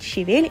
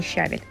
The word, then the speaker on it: щавель: только листья щавеля кстати по правилам русского языка ударение делается именно на второй слог правильно говорит щавель и ни в коем случае не щавель если вдруг вы мне